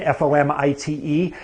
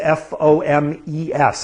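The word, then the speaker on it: fomite: foam it-- man's mission fom ite also sometimes different pronunciation foamies fom es I like that one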